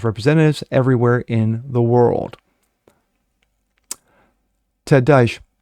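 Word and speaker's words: Ted Deutch: Ted Dash, if I'm pronouncing it sounds more like douche, but I'm not going to do that.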